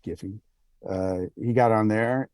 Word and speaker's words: Giphy: he got on giphy I pronounce it Jif but they pronounce it giffy uh he got on